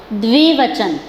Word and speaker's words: द्विवचन: जब हम 2 व्यक्तियों या 2 वस्तुओं के बारे में बात करते हैं तो वो द्विवचन कहलाता है। प्रोनाउंसिएशन पे ध्यान दीजिए, द में व जुड़ा हुआ है, द्विवचन, राइट।